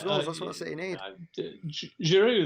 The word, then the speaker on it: Giroud: Giroud there, obviously a man whose name gets mispronounced by certain people. Groud.